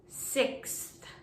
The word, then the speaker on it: sixth: the next one is sixth sixth again this is challenging because of that th sound at the end of the word so first you can say six and then sixth sixth i live on